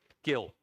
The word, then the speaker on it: Gill: for that appreciate that is it gill or jill gilroy at thornbury high street sorry how do you say your name sir gill i thank you gil